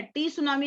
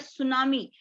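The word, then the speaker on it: tsunami: तो उसके स्पेलिंग में टी होता है, लेकिन उसको टी बोलते नहीं है, टी सुनामी नहीं बोलते, that is called सुनामी। टी जो है उसमें साइलेंट होता है।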